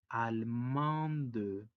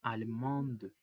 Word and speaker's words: allemande: Y si lo decimos en femenino, se le agrega una E y esa E, aunque no suena, hace que la D tenga sonido porque ya no va a estar al último. Y en femenino se dice allemande. La primer E no tiene sonido porque no tiene tilde y por ello sería allemande.